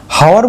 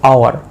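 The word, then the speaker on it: hour: হাওয়ার বলবো আমরা? এইচ ও ইউ আর, হাওয়ার না, এইচ ও ইউ আর মনে হচ্ছে আওয়ার, আ, আ, ক্লিয়ার, আওয়ার।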